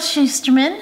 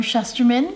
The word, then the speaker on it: Shusterman: or adult fun yield schusterman or shusterman depending on how you decide to pronounce this book is an